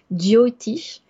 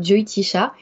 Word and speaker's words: Jyotish: de chacun alors effectivement en fonction des régions en Inde et en fonction des langues parlées tu vas le prononcer différemment moi je le prononce diotish dio parce que tu